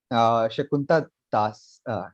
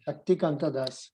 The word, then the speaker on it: Shaktikanta Das: Shakunta Das, Shakuntika Das. I can't. Shaktikanta Das. Shaktikant Das. Yes, I can't pronounce his name correctly sometimes.